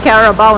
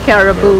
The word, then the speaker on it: carabao: No, we call it carabao, not caribou. Carabao.